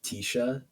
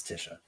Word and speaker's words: Tisha: yellow striped shirt words it's not pronounced Tisha no it's Tisha it's Tisha if I if I